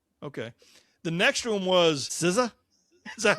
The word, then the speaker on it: SZA: The next one was SZA.